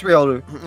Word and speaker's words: Riolu: a Riolu, or Riolu, however you want to pronounce it. I don't even know. Riolu. It's Riolu.